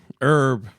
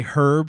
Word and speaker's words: herb: word herb in it herb you know uh i say you know i say herb sometimes because that's what the brits say yeah and that i